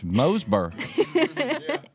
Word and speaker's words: Mooresboro: Moseboro. If you're native, you especially pronounce it that way.